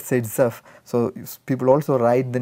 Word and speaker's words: Zaitsev: So it has to be pronounced as Zaitsev.